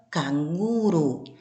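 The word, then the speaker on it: canguro: Com as sílabas tônicas em locais distintos, fazendo com que a pronúncia seja diferente. Canguru na língua espanhola, canguru na língua portuguesa.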